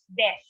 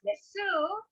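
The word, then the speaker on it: です: Even though it is pronounced as desu, or sorry, it is spelled as desu, it should be pronounced as des.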